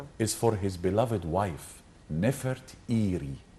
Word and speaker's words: Nefertari: for his beloved wife, Nefertiri, not Nefertari. There is no A in the name of this lady. We are pronouncing her name wrongly.